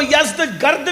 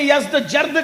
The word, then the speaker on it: یزدجرد: اس کا بیٹا تھا جس کا نام تھا یزدجرد, اس کو یزدگرد بھی کہتے ہیں ایرانی لب و لہجے میں, عربی میں یزدجرد کہتے ہیں.